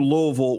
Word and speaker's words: Louisville: can do it the challenge would be do loville without sounding like you're trying to say every